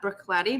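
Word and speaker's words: Bruichladdich: and nutritious you guys want to talk about brook cloudy brook yeah pronounced like that brook lady but spelled wholly differently in my mind as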